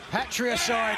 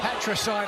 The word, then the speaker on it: patricide: Patriide. Did you say Patriide? Patricide I believe is the correct pronunciation.